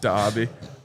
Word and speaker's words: Derby: dra todayi I think it's actually Derby but pronounced dbby uh it's actually two